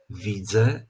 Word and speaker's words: widzę: z tej Uwagi mianowicie jeżeli w wyrazie mamy na końcu Czyli w wygłosie wyrazu samogłoskę nosową ę to podczas wypowiadania takiego wyrazu ta samogłoska nosowa traci tę cechę nosowości i po prostu wymawiana musi być jako zwykłe e czyli zamiast mówić tak